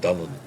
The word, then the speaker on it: Dylan: young green shudo surrealist called Dylan pronounced dunan Thomas who said of